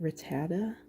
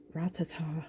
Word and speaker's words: Rattata: So this is, I pronounce it Rattata. Rattata. Yeah, and some people are like Ratata or something, which I think is what I said in the last video.